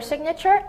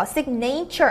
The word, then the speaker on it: signature: 그래서 두 가지 신경 써주실 것, 사인이라고 읽지 않고 signature이라고 읽는 거, signature 아니고 signature입니다.